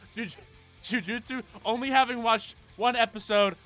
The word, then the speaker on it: Jujutsu: So just at only know only fully knowing one series and only having watched episode one of Juju Ju. It's Juju. It's the same syllable twice. Ju Jujutsu.